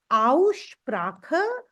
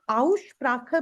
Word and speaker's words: Aussprache: We are going to start with Aussprache. The word Aussprache means pronunciation.